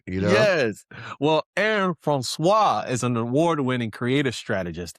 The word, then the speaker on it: Francois: Francois. Francois. I got to get the Yeah. French in there when I Yeah, do it. add a little zest, you know? Yes. Well, Aaron Francois is an award-winning creative strategist and marketer.